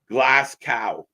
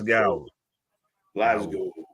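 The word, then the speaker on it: Glasgow: it's not it's not glass cow it's not glass cow it's glow Glo um but uh yeah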